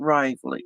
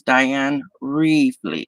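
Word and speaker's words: Diane Reeverly: call her diane rivley it is not riley it's diane reevely you gotta pronounce it right it's really with an e not an i i just wanna get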